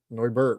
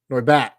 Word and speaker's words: Noibat: Arceus Noibat. Well, that's not good for us. Huh. Okay. We got to hit that Noibert, right? Noibat. And I said it right the first time.